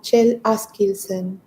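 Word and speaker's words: Kjell Askildsen: que es noruego y se llama Chell Askilsen. Se escribe K J E L L Ask Kilsen, como suena con K, eh, y sus cuentos son maravillosos.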